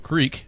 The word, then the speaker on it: Kriek: So the sour is actually called Papio Creek, but it's not spelled the way you would think it. It's spelled Kriek, by Farnham House Brewing Company.